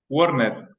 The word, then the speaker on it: Worner: yo el apellido tuyo Cómo se pronuncia werner Ah ya tal como lo dije no es más complicado ya perfecto okay pucha